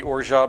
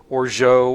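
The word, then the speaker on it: orgeat: And pronunciations of that word are all over the place. Orat or is wrong. We know that. Orat is wrong.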